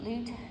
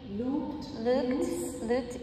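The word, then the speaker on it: Lugt: Sonja, can you pronounce that word for me, please? L-U-G-T, L-U-G-T, Lut, L-U-G-T-T, Lut, yeah, prints.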